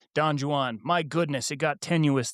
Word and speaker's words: Don Juan: Don Juan. In this case, the J is pronounced like an H ancient English English pronunciation.